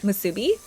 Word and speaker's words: musubi: Kind of pees me when people incorrectly stress the second syllable of musubi.